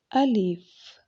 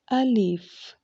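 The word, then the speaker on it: الف: language let's start a leaf a leaf let's pronounce it again alif alif let's learn some fruit's name start with letter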